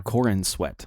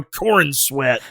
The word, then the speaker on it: Corenswet: Corin Sweat.